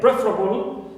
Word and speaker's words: preferable: So here also we have able, but the verb is prefer, second syllable, right, is normally stressed, but here with this word, the first one is stressed. It's preferable, it means pre is stressed.